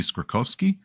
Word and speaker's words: Skorkowsky: which is like oh my great grandfather pronounced it this way so it goes back a while but because I think it should be skorkovski uh which I think